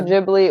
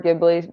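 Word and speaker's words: Ghibli: the entire Studio JBL am I saying it right Studio jibli or gibli I heard both people say it either way so I think you're fine but yeah something like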